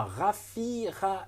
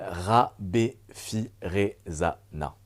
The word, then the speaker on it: Rabefiraisana: Donc aujourd'hui, on est avec Raffira. Est-ce que tu peux... Non, c'est un peu compliqué. Vas-y. Tu veux que je t'apprenne à le prononcer? Oui, vas-y alors. jusque-là ça va. Rabefirezana. Rabefirezana.